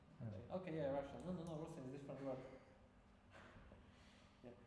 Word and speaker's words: Rusyn: When I say about Rusyn to people who speak English, Russian, no. Right, no. No Russian. They think that I pronounce it wrong. Pronounce it incorrectly.